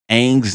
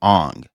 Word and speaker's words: Aang: And how they pronounced, you know, Aang's name, Aang's original name is Aang. In that movie, they called him Ong and they called Sokka Soka.